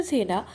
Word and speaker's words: सेन: तो इनके बेटे या फिर सक्सेसर जो हैं बल्लाल सेना के, जिनका नाम लक्ष्मण सेन था, तो it's actually pronounce as सेन।